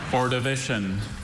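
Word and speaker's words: Ordovician: Orivision.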